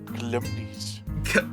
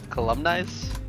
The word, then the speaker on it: calumnies: Calumnies. Columnize? Calumnies. Calories? Calumnies. Yeah, okay, I literally googled how to pronounce it. It is calumnies.